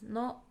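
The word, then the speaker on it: の: It's pronounced as no.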